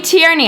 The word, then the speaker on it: Tierney: I took from a Sacramento Airbnb so Joey Tierney I think did I pronounce that right you did thank you for